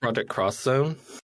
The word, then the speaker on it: Project X Zone: Are we sure it's not pronounced Project Cross Zone? It probably is Cross Zone, but it's great.